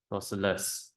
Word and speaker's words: isosceles: Therefore, this is an isosceles triangle. Okay, don't spell it wrongly. Isosceles. I-S-O-S, celes. Okay, I-S-O-S, celes. Triangle.